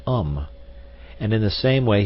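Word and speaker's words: homme: a piece of bark he learned from darno that it was pronounced um and in the same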